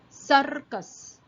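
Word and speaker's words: सर्कस: So in above ka there is a semicircle drawn, that is called as rafar, and rafars are pronounced first than the words below it. So that's why I pronounce as circus.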